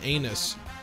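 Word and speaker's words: Einus: The captain is a very nervous woman named Natora Anus. Yes, it is pronounced that way. It says so on the Gundam Wiki.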